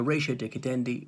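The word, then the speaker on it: ratio decidendi: other magistrates courts so ratio de cadendi latin for reason for deciding and the plural that is is rationase we could pronounce it ratio decadendi if you wish to over to dicta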